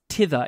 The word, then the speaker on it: thither: Thither is toward there. Oh, so this is like hither and tither, but I've always heard it pronounced tither instead of thither.